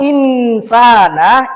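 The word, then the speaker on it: إنسانَ: Seharusnya bacaan yang benar adalah laqad khalaqnal insana fi ahsani taqwim.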